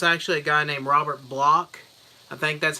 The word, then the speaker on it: Bloch: a guy named Robert Bloch. I think that's how you say his name. It's like Bloch. Could be Bloch or Block, but I'm pretty sure it's Bloch.